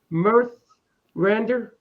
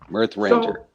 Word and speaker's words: Mirthrandir: How you pronounce it now again? Mirthrandir. Mirthrandir? Mirthrandir. Yes. Mirthrandir.